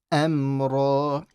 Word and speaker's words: أَمْرًا: And then amra. The ra is heavy.